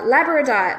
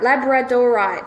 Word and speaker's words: labradorite: cleaned regularly okay uh labradite labradorite sorry I always say it wrong Shields against psychic attack